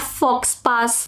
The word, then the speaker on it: faux pas: This is actually a French word. Not faux pas, faux pas.